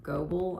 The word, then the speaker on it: Goebel: They were Goebel, I believe is how you say it.